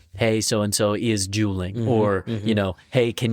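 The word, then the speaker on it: JUULing: Jeweling. Jeweling. It's spelled J U L I N G.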